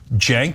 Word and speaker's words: Cenk: Cenk, this is pronounced like a J, Cenk, and then Uygur, Cenk Uygur.